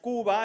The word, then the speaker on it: Cuba: get away and i took a trip to cuba properly pronounced cuba everybody said cuba yeah now cuba is not